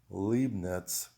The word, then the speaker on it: Leibniz: so i've done my homework and the correct pronunciation is descartes spinoza leibniz schopenhauer and hegel so i'm letting you know